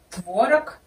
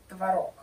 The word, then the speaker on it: творог: Ну, в русском языке на самом деле есть такие слова, где можно поставить ударение и так, и так. Например, творог, творог.